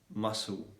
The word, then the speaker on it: muscle: better communication yeah so the letter c is normally going to be silent when it comes yeah when it comes after the letter s and before i e or y so for example